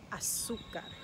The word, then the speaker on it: azúcar: And here's another word that has the emphasis, the accent, on the U. It's the word for sugar. Azúcar.